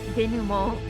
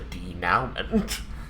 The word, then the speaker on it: denouement: The denouement is the wrap-up of the book. D-E-N-O-U-E-M-E-N-T, or story, not just book. And so he's deliberately mispronouncing it to tell why, Tristan. Because it's when you make it not now anymore. It's the De-now-ment.